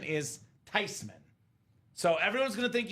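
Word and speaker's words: Theismann: been living a lie said Grandma it's not theeman it's not tman the proper pronunciation is tyman so everyone's going to think you don't know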